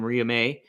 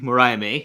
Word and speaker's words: Mariah May: tag match also happened was Tony storm and Maria May versus Maria May beg thank you Mariah May that's why I'm here I'm mainly here to